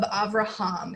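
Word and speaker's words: אברהם: we have this famous story of Avraham it's okay I'm gonna use the hebrew pronunciation since that's my lineage and wherever hum is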